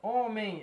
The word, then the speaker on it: homem: Ela é pronunciada da seguinte maneira. Homem. Então, esse EM, ele não tem som de E com tio. Ele tem som de EI.